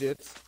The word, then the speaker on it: GIFs: They're pronounced jits, by the way. Just letting you know, they are pronounced jits.